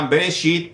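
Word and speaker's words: בראשית: Es el libro de Génesis, que en hebreo se pronuncia Bereshit y su significado es en el comienzo.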